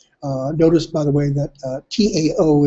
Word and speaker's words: Tao: Notice, by the way, that Tao is pronounced with a D.